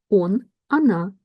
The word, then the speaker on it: оно: He, she, it, он, она, оно. You probably hear that I pronounce the sound a here because these letters o are unstressed. We pronounce them as a short a.